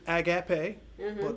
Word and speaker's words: agape: means unco additional love agape age agape unconditional you know some people pronounce it a gap a agape so either way but again that's